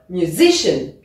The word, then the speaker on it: musician: ces mots kangaro ici musician on s'attendrait aussi vu que c'est un mot de trois syllabes si on suivait la r ce serait la première mais non c'est bien musician let's practice now on